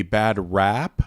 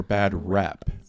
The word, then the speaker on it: bad rep: Should it be bad rap or bad rep?